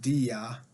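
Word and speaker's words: diya: a DI that's spelled DIY a and it's pronounced Dia and essentially it's non-negotiable payments of blood money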